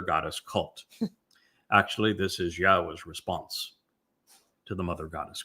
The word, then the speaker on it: Yahweh: Now, imagine the single most important discovery that I made along the way is to prove that Yahweh's name, YHWH, is pronounced Yahweh.